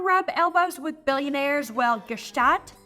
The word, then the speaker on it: Gstaad: elbows with billionaires well Gat or shot officially how it's pronounced has it all I'm